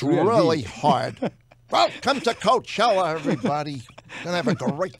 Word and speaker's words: Coachella: I had to make sure I don't pronounce R. It should be L at the end, right? Yeah.